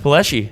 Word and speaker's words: Palleschi: owner and operator of 21st Amendment Distillery Jeff paleschi how are you good man the first question I have for you is did I pronounce that right yes okay so you got it most people say Pulaski don't they either ones yeah all right yeah